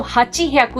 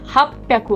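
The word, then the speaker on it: 八百: 8 को कहते हैं हाची, तो हाची ह्याकु नहीं होता, हाप्याकु हो जाता है।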